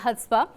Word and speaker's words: Chutzpah: मुझे actually correct pronunciation इसकी अभी तक नहीं पता थी, तो अभी जाके मुझे पता चली इसकी प्रोनाउंसिएशन है हुत्सपा और मैं गलत बोलती थी पहले।